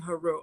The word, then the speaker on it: Haru: use those terms, but the Medu Neter clearly has it written to pronounce it as Asar, Aset, and Haru.